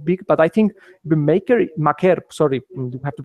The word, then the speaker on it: Maker: But I think Maker Maker, sorry we have to pronounce pronounce his name right, is better at that than than Wilson is.